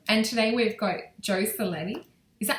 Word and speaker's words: Cerletti: Hi everyone and today we've got Joe Cleti. Is that how if I said it right, your last name? Yes, you did. Thank you. Okay, so we've got Joe Cleti with us today and you're an ET experiencer abduction.